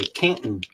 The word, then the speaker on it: Canton: They have gathered in Canton. That's how you pronounce it, by the way, Canton.